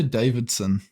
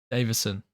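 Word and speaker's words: Deiveson: Davidson Figueiredo versus Rob Font. You say Davidson. Davison.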